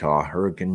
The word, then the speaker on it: Hurricane: I've been working out in the Hurricane area, Hurricane, Utah. It's spelled hurricane, but they pronounce it hurricane for those of you from far away.